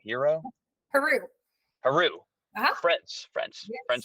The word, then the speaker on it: Heroux: yeah that's okay it's it's pronounced 15 million different ways my favorite one is her rocks people who like yeah that's okay Z Rock it's like Z Roo but but it's here eyes right I'm like okay fine